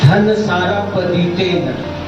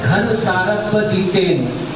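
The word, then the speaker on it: घनसारप्पदित्तेन: समझ में आया है, जैसे धन सारप दीतेन, हम लोग धन सारप दीतेन बोलते हैं, लेकिन वास्तव में घन सारप दीतेन ये होना चाहिए।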